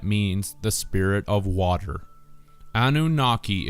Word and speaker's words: Anunnaki: Anunnaki is phonetically a new naki or a new water spirit that is born into